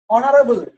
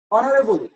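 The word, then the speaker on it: honorable: আরো honest উচারণ honest অনারেবল অনারেবল এগুলা কি হইবো এন আইবো এইচ উচ্চারণ নবই কিন্তু এইচ উচ্চারণ নব দেখলে কি আইব এন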